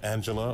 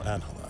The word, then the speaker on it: Angela: talking to miss is your name pronounced Angela or anela both are fine but uh most people call me Angela oh that dude saw